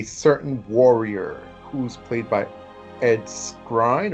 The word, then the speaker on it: Ed Skrein: warrior who's played by Edie Grine or ed skrein that's how you pronounce his name and I thought he